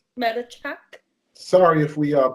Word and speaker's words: Matichak: Andy Matichak. It's Maticchak. Yeah, Matichak sounds like. Matichak.